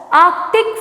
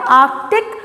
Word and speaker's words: arctic: it's pronounced as wolverine next arctic flo fox arctic fox here r is silent okay arctic fox it's uh this is also a name